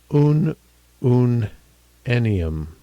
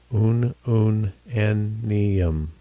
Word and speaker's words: ununennium: So, looking in this little column here, which is kind of a summary column prince- pronunciation will be oon-oon-ennium. oon-oon-ennium I was pretty close.